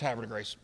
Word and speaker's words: Havre de Grace: And, of course, that's not the proper French pronunciation. Havre de Grace, whatever, I don't know. But, locals, it's Havre de Grace.